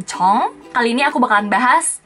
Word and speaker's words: Jung: Lanjut menuju kata ke-8, yaitu sama seperti marga yang J-U-N-G tadi, Chong. Bukan Jung tapi Chong.